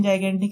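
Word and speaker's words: gigantic: Pronunciation जाइगेंटिक है, लेकिन इसको हमने गिग्नांटिक पढ़ा था।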